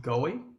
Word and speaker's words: goy: Whenever the Bible, particularly in the Old Testament, uses the term nation, if you look at the original language, the word is G-O-W-Y, and it's pronounced Goy.